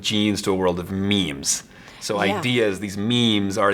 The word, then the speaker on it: meme: And of course, meme rhymes with genes, and he says, you know, we used to live in a world where information was only exchanged through sex, sexual reproduction.